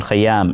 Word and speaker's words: Khayyam: Many Urdu names have this sound, kha. Urdu poet Khaja Mir Dard, Bollywood musician Khayyam, and famous poet and musician Amir Khusro, their names have the sound kha.